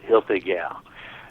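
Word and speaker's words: Hoefliger: know if you remember when we had John Hil gal I sure do on from Alpha Omega we had the young lady that mispronounced his last name call in that day but it is Hil gal and uh great wi maker uh learned in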